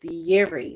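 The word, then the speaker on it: Yireh: And in the Hebrew language, the word for that is yeri, which is spelled y i r e h.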